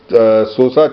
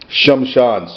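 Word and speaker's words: श्मशान: I showed you the Sosa Channel ground it is a mispronunciation of shamshan SOA sham Shan sham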